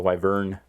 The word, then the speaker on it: Wyvern: Wait, there is no I in there or Y at the end. It's a Wyvern. That's how it's pronounced, but I've never heard anybody call it a Wyvern.